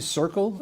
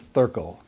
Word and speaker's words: Thurkel: At an early age, I began attending Thurkel Elementary, often mispronounced, often questioned about, was the school really Circle and not Thurkel? And no, the answer still remains Thurkel.